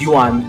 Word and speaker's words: Yuan: And it reminded me that in in three they call for some reason they pronounce Yuan as Juan.